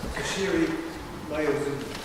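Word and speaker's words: Toshiro Mayuzumi: Toshiro Mayazumi.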